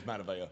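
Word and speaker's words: Matavao: It's Mataveo, pronounced but- weird. Mataveo, maybe, yeah. It is Mataveo.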